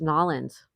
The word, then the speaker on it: New Orleans: Pezzo says New Orleans, properly pronounced Nolans.